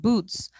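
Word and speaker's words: buuz: One of my favorites was called boots, which I think of it like boots, like putting on a pair of boots.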